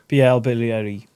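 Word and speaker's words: Bielle-Biarrey: Bilaryi.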